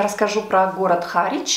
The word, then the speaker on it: Harwich: Кстати, по поводу названия города, опять же таки, я его называла по-русски Харвич. Мы же называем район города Гринвич, который, в принципе, также пишется W-I-C-H на конце, называем Гринвич. Почему-то Харвич с таким же написанием на конце должен по-русски звучать Харвич. Но я посмотрела в Википедии, мы называем этот город Харвич.